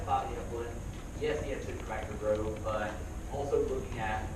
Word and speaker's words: Citrobacter: So Citrobacter from DI.